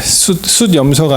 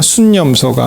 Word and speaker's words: 숫염소: 숫염소가 아니고 순염소가 맞고 그렇게 되어 있습니다.